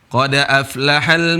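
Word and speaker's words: قد أفلح: Qad aflahal mu'minun. Qad aflahal mu'minun. Qad aflahal mu'minun. Ya. Qad aflaha. Huruf hamzah di sini tidak dibaca. Harokatnya pindah ke huruf sebelumnya, yaitu ke huruf dal.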